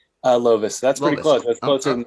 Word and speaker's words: Lovice: introduce my first guest and he is am i pronouncing it correctly uh lovis that's pretty close closer than most people okay